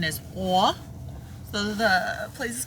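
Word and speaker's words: Å: a with a circle on top apparently the pronunciation is a so the place is called a and Owen's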